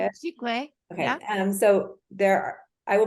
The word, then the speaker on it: giclée: I don't know if I'm saying that right. Giclée, I think that's how you say it. Giclée.